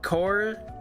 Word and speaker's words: Corps: It's Marine Corps. Or is that cors? It's core. It's singular. So, the the P is silent. The S is silent.